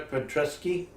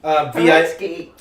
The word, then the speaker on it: Paretsky: Anyway, while I'm here, it is Sarah Petresky. Okay. Paretsky. V.I. Paretsky? Yeah, Paretsky. Thank you. Okay. I didn't say I was pronouncing it correctly.